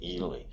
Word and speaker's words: Ely: So, Ely. Ely Gold Royalties. Yeah, that's how you say it? Ely, Nevada. That's It's named after the town of Ely, which is a famous mining town, Ely, Nevada.